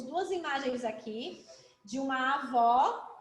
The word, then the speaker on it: avó: é bastante então como vocês abriram para falar avó sim ou não É sim não avó avô